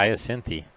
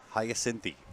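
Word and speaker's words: Hyacinthe: how does that happen Hayti Hayti that's that's the proper way that's how it's spelled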